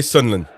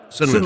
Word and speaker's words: Sunderland: you got to say sunland. Sunland. You can't pronounce it the whole way. Just Sunland.